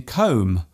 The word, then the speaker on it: comb: For example, the B in comb, womb and bomb.